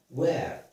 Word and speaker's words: where: Where, so it is pronounced with W, we don't pronounce H.